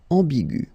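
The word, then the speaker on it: ambiguë: Another example is ambigu, and it will become ambigu. Okay, so you don't modify the way to pronounce them.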